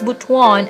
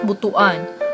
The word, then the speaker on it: Butuan: the main Center of kaga is bhan City pronounced as bhan and not buhuan first class highly urbanized City in the southern